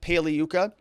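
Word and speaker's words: Pagliuca: everdell submits his jeff paliyuca g is silent like lasagna he submits his and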